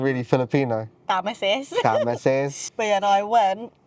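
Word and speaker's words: Thames: Pronounce it. Tames. Yeah. Cuz it's on the temps. Tames. Look. I saw the word. I just I just tameis.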